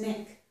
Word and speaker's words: knick: K-I-C-K is kick, but K-N-I-C-K is nick. Notice the spelling is the same except for the letter N.